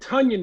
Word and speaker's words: Tonyan: Bobby Tunyon is, and we say it Tunyon now, fellas. Yeah. We got to make sure we get it phonetically correct.